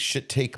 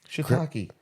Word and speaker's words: shiitake: Wait, shit take mushrooms? Shiitake. G. Willikers. That's shiitake. Oh, it's shiitake. Shit take. It is spelled.